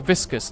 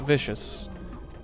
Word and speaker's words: viscous: it's a Vicis viscous it's saying it's a viscous not vicious yeah I think I mispronounced that all right anyway as